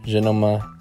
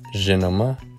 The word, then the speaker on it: žinoma: For example, I would pronounce these words as žinoma, lietuviškų, and palanga. But as verified by my wife, these would be pronounced as žinoma, lietuviškų, and palanga.